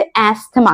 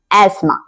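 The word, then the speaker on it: asthma: सांस नहीं ले पाते तो बहुत से लोग कह देते हैं कि उसे अस्थमा है जबकि इसका करेक्ट प्रोनंसिएशन है एस्मा तो अगली बार जब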